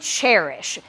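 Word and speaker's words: Chairish: apt Deco Deco and cherish spelled like the chair you sit in c-h-a-i-r and then it's a play on love and cherish so c-h-a-i-r-i-s-h um they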